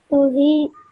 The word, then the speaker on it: Tawheed: Tawheed. Okay, again, ta is one of the qalqala letters, okay? So because it has a spoon on top of it, we produce this slight jerk when you say it.